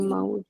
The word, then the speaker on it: maullo: Entonces, si yo digo maullo, yo maullo, ¿cierto? Estamos frente a un hiato acentual. Y si pronuncio maulló, estamos frente a una palabra aguda.